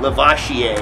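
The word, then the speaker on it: Lavasier: Lavoisier is actually how you're supposed to pronounce it.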